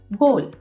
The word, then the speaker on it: ghoul: तो ये वो वर्ड्स थे, लेकिन इसी तरीके से GHOUL गोल।